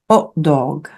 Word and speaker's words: hot dog: Od dog.